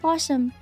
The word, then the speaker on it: possum: have why do you have this kind of possum they don't look like our kind of possums cuz they're different cuz they're different they're different Bome different posum and these are very nice men okay this